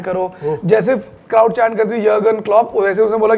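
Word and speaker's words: Jürgen Klopp: था मैनेजर हुआ था यर्गन क्लॉप। यर्गन क्लॉप। अब हां जर्मन थे तो उनका नाम जर्गन क्लॉप लिखा जाता है। लेकिन यर्गन क्लब प्रोनाउंस करते हैं।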